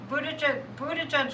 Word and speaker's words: Buttigieg: how guilty he was, and all this is, Buttigieg would be great.